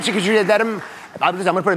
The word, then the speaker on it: Çok teşekkürler: Çok teşekkürler. Çok teşekkürler. Çok teşekkürler.